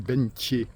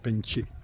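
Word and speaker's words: Bến Tre: le véritable nom c'est bentier c'est ça s'écrit ben TR ça se prononce bentier voilà et il y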